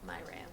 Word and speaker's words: Myrea: Myrea? Myrea. Okay. Because you can pronounce it multiple different ways, the way it's spelled.